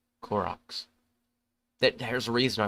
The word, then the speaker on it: Korok: The often elegant, magical Zora, which are still around, the proud and stubborn Goron, and childlike, innocent Kakaroos. Yeah, I guess that's how you pronounce them. No, Koroks, sorry. Koroks.